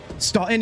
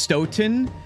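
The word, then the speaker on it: Stoughton: Stalton is pronounced Stoen.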